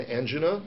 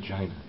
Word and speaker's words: angina: It could be an angina. It could be indigestion. Angina. No, angina is correct too. Both pronunciations.